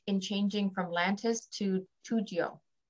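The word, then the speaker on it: Toujeo: Another question on, is there any benefit in changing from Lantus to 2GO? Or 2JO, that's how you say it.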